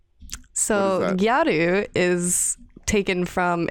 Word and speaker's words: gyaru: What is a Gyaru? So Gyaru is taken from, it's a borrow word, so it's like the Japanese pronunciation of the word gal.